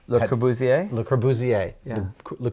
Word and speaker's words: Le Corbusier: How does that pronounce? Le Corbusier. Le Corbusier.